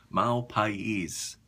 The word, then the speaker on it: Mal Pais: It's pronounced Mahl-Pa-eees.